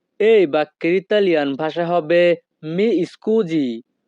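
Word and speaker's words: mi scusi: মাফ করবেন এই বাক্যের ইতালিয়ান ভাষা হবে মি স্কুজি। মি স্কুজি। এখানে SI এর উচ্চারণ হবে জি।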